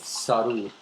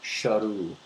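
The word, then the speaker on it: Sheru: And also he was also mispronouncing his own name which was not Su but Shahu which is s h e r u which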